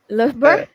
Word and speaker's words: Loughborough: Acho que é assim que se pronuncia. Loughborough?